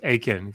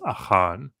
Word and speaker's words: Achan: not supposed to, and his name in Hebrew is Achan. But nobody says that, and they pronounce it in English. They say like Achan, and so he got on me about that.